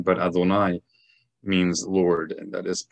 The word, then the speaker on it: Adonai: But when we read this word in formal recitation, we pronounce it as Adonai. And the reason for that is an entirely different topic. But suffice it to say, it is well known that that is not the proper pronunciation of this name.